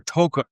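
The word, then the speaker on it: Tocco: Novi Taco or as they pronounce it there, Tokco, which I had to be corrected on because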